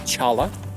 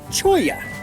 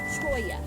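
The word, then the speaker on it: cholla: By the way, we just found out it's not pronounced Chala. It's pronounced Choya. Choya.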